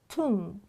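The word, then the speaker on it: tomb: რამოდენიმე რჩევა ტექსში მოვისმენთ Tum, it says, it spells O with O, but it pronounces U, Tum.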